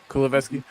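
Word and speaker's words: Kulusevski: Is that how you pronounce that guy's name? Yeah, Kuleveski.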